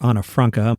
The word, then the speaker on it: Anne Frank: While there, Peter Lassally's sister went to school with Anne Frank or Anna Franka. My daughter was in a theater show where I learned that we're supposed to pronounce her name like that, but most people would just know her as Anne Frank.